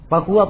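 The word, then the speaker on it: فهو: an rutbatil husni qasur, fahuwa ad-dha'ifu wa huwa aksaman kathur." Di situ fahuwa bacanya, hanya disukun. Sama dengan wahwa, disukun. Itu salah satu qiraah, salah satu lugah dalam bahasa Arab.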